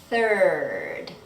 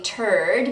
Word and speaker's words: third: You want to be sure that you don't say turd because the word turd literally means a piece of poop.